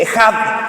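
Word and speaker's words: אחד: Este término ginosco, hablando de la palabra conocer, tiene su complemento en hebreo, que se escribe echad, pero se dice ejad.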